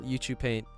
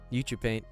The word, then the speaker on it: Ucupaint: um PBR youu pumar it took me a minute too I didn't know how to say it at first but then I heard his uh I heard him call youu paint youu paint in his video so that's what I've